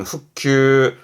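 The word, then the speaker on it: 復旧: 발음은 후큐, 후큐.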